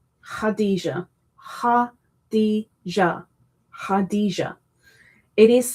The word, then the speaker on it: Khadijah: I guess you've got to ignore the K completely cuz it's a silent K. But it is pronounced hada had maybe not